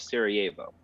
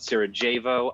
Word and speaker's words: Sarajevo: uh the city of sarajevo yes i have to try i have to try very hard not to call it sarah javo i pronounce jay's very hard and it is uh